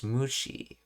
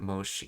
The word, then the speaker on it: 虫: Oh, it's Mushi. Okay, not Moshi. Yeah, Mushi. That's right, Moshi is how you say greeting on the phone.